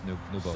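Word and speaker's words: Nwpo: Because in Arabic there's no P, so all the that's how they say his name is Nubo.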